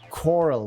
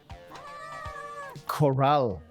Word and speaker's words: corral: Corral. That's how you say it. Corral. I said coral, right?